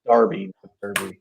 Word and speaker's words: Derby: question on the chat it's uh darby darby it's wayne rooney those brits man pronounce it stupid so it's darby yeah i don't know